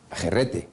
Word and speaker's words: herrete: El herrete, que es jerrete, pronunciado a la forma extremeña, que es el aguijón de la abeja en toda esta zona.